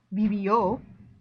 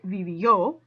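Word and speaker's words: vivió: gets the accent mark here's another preterite verb bibio okay because i'm pronouncing it o more strongly i should be pronouncing the i more strongly reveal but that's not right vivio is right i have to put the accent mark on the o pardon my throat clearing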